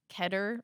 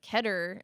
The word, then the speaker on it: Keter: how it's pronounced, and Keter or Keter. Keter. Yeah, I thought it was Keter.